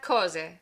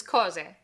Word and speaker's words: cose: Here we have cose. Just like before, the stress falls on the penultimate syllable, and why? Because there's no accent on the word. So this is cose.